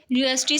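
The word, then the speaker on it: university: It's pronunciation, जो इसकी pronunciation है वो है विद साउंड यू. सो वो यूज़ ए, इसके साथ ए यूज़ हुआ क्योंकि इसकी प्रोनाउंसिएशन में यू से स्टार्ट हो रही है.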